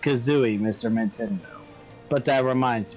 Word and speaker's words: Kazooie: God Bano K Kazo it's pronounced Kazooie Mr Mendo but that